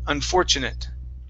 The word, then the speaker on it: unfortunate: here for you is unfortunate okay so the ate is an it sound unfortunate unfortunate awesome okay excellent thank